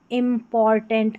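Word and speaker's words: important: TANT को tent करके पढ़ दें, यहाँ टंट करके अगर पढ़ेंगे नहीं, उच्चारण आप टेंट करके निकालें इस तरीके से, ऐसे टेंट। जैसे यहाँ पर TANT दे रखा है। इम्पॉर्टेंट, IM को इम पढ़ते हैं।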